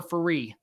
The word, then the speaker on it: Ferree: Is it pronounced furry or furry? Furry. Yeah, actually your second pronunciation was perfect. I always tell people it's like referee without the ray.